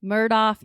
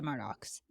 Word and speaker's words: Murdaugh: I say Murdaugh, but I don't think people usually emphasize the end of it the way that I do. It's just also that southern name that wherever you live all over the country, people pronounce things differently. He says Alec Murdaugh, so I'm going with Murdaugh.